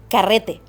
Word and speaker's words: carrete: And how do you pronounce it again? Carrete.